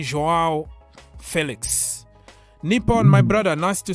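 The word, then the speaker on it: João Félix: let's start by uh joao Felix that is the way you pronounce his name in Portuguese because he corrected everybody and said you have to call me joao Felix Nippon my brother nice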